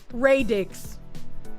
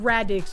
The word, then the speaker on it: radix: It's It's pronounced Ray Dixs, not Radix is probably what I said. Ray Dixs. And I guess Radix would be how people mispronounce it.